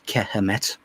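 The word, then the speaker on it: Kemet: We also have the correct Egyptian pronunciation of Egypt, which is Kehemet, which means knowledge and wisdom.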